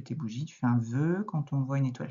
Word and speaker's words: vœu: Et on l'a aussi dans ce mot-là, par exemple, quand tu souffles tes bougies, tu fais un vœu.